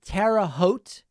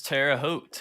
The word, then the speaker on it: Terre Haute: never know how to say this is it terra haute it is terre haute yes wow what state is that indiana okay